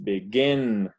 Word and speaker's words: begin: Por ejemplo, begin, son dos sílabas y pronunciamos begin. La última es la que está acentuada.